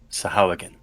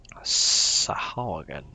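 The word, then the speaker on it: Sahuagin: in your language they are called Sahawagan. Sahawa, what? It is spelt Sahauagin. Yeah. Sahawagan.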